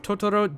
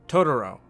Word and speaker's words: Totoro: However, Totoro is pronounced in a more Americanized way, like Totoro.